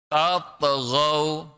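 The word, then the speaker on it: تطغوا: Agar jangan tatghaw. Dengerin cara baca Ustaz. Pantulkan. Tatghaw. Tatghaw.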